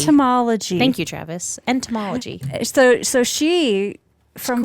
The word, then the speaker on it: entomology: Molalla G ed null but how do you pronounce that one study of insects entomology homology Thank You Travis entomology it so so she from friends she would